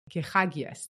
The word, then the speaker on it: Kechagias: Kechagias, that's the name, right? Yes, that's correct. Kechagias. Yeah, no, I pronounce it well.